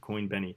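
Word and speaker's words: CoinBene: It's pronounced Benny. Coinbenny, like benefit.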